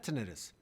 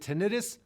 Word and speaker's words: tinnitus: it and of course how do you say it is it tinnitus or tinnitus actually either way is correct so first let's start